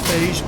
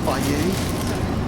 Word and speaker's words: Fage: It says Fage, but it's pronounced Fage because it's much creamier than the Chobani.